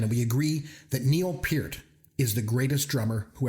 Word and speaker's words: Peart: Like not Pert, but Peart.